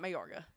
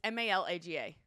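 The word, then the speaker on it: Málaga: I think it's Malaga. No, it's not Mayorga. It's Malaga.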